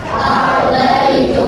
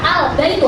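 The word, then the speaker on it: البيتُ: Al-Baitu. Oke, bacanya Al-Baitu, Al-nya terlihat jelas.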